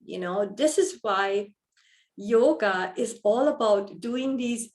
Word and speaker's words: yoga: point to emphasize that yoga yog actually yoga the actual pronunciation is yog which means union so